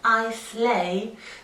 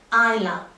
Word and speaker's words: Islay: It's not pronounced Islay.